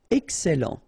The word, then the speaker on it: excellent: Excellent. Remember, double L and E before, it will open the E.